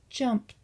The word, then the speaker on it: jumped: It makes a t sound. Let's say it again. Jumped.